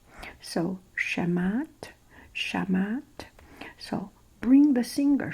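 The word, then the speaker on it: Shamhat: h a i think H is not pronounced so shamat shamat so bring the singer shamat and singer shamat she's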